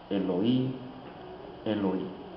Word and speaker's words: Eloí: La diferencia de pronunciación lo encontramos porque Mateo cita las palabras en hebreo, Elí, Elí, y Marcos cita las palabras en arameo, Eloí, Eloí.